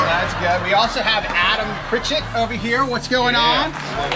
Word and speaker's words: Adam Pritchett: We also have Adam Pritchett over here. What's going on? Did I pronounce that right?